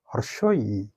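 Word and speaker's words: হ্রস্ব ই: এর সঠিক উচ্চারণ হলো হর্ষই।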